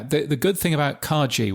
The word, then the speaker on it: Kagi: the good thing about Kaji which is or kagi I believe it's now pronounced which is the um